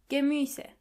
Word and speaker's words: Gemüse: Die Gemüse. Try to practice the pronunciation of this word a couple of times. to make sure you are pronouncing the umlaut correctly.